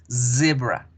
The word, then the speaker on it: zebra: Por eso no vamos a decir cebra, sino decimos zebra, zebra.